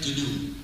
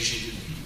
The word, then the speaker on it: GNU: Donc, avec deux significations, c'est GNU. Mais c'est beaucoup meilleur que ça, parce que, en vérité, c'est un mot très chargé d'humour. Parce que selon le dictionnaire, le G est muet et le mot se